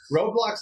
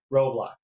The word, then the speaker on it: Roblox: I love those roadblocks. You know, I keep saying mispronouncing this. I say road blocks like road blocks. Road block. Yeah. Okay. Ro. Yes. Okay. Roblox.